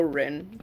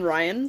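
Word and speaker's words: Ryn: people don't miss spell or people misspell Rin but when I give when I write down my name they look at it and they cannot pronounce it cuz it's R YN and PE I've gotten Ryan so many times I'm just like close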